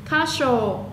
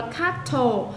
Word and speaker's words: castle: Castle, ở đây mình không đọc là castle, chữ thờ là câm, mình đọc là castle, có nghĩa là tòa lâu đài.